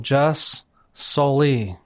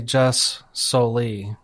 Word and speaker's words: jus soli: How do you say it? Well, I would say jus soli.